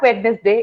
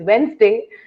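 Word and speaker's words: Wednesday: पता नहीं था कि इट इज नॉट वेडनेसडे, इट इज वेंसडे।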